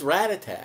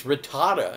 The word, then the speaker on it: Rattata: I thought it was Rattata. And now all of a sudden they come back and it's Rattata. And I said, what, is this something you eat? I mean, so I said it wrong all those years, but they changed it.